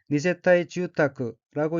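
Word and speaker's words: 二世帯住宅: 및 집택자로 되어 있고 일본어로는 니세타이 주타크라고 읽으며 니세타이 주타크는 두 세대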